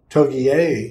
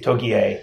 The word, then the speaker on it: Togiai: But his name was, because they kept pronouncing the name wrong. Yeah. Togiai. Togiai, yes.